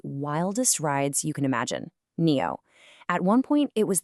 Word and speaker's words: NIO: It's not NIO, it's NIO, pronounced NEO.